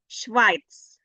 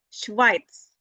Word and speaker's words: Schweiz: Aus der Schweiz. So if you find the letters E next to I, then you pronounce it I. Not A, but I. Aus der Schweiz. Schweiz, not Schweiz, but Schweiz.